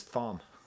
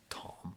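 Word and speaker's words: Thom: uh liner notes and I read it as Farm I didn't know I didn't know you didn't pronounce it's kind of obnoxious Tom but it's spelled Farm I'm talking about Tom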